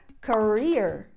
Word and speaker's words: career: A próxima palavra é a palavra carreira, e ela se fala career. Career. Então o stress dessa palavra, sílaba tônica, é no final. Career.